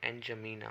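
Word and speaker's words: N'Djamena: ये D silent पढ़ते हैं तो एनजमीना हो जाता है।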